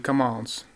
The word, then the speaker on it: commence: Вот смотрите, вот это вот слово commons, по-моему, в игре он такого произносит, что M почти не слышно. Получается, как cons. Que le spectacle commence, можно так сказать? Que le spectacle commence, no. Que le spectacle commence. M все равно должно быть слышно.